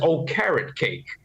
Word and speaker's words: Okereke: And they've got the linebacker Okereke, and Wink helped me with the pronunciation. He told me just say it as O-Carrot Cake.